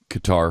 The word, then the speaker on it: Qatar: different ways it's like the pronunciation of of uh gutter it used to be uh guitar qatar is cutter for a while yeah cutter i mean